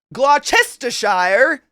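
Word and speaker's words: Gloucestershire: Baltimore I don't know glester Shire gler you just just take the middle out I don't know why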